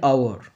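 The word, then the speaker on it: hour: আর এইচ এর উচ্চারণ এইচ ও ইউ আর, এর উচ্চারণ কিন্তু হাওয়ার নয়, এর উচ্চারণটা আওয়ার, তাহলে এখানে বসলো অ্যান আওয়ার লেট।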